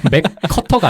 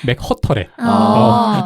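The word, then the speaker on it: McWhirter: 이 사람들한테 이름이. 맥커터가 아니라 맥허터래.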